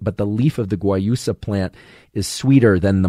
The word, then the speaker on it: guayusa: who don't like mate might prefer something like guayusa which is spelled g-u-a-y-u-s-a g-u-a-y-u-s-a guayusa which is from ecuador